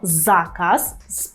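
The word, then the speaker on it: zakaz: заказ якщо ви почуєте польське слово заказ правильно з наголосом на передостанній склад То що вам спаде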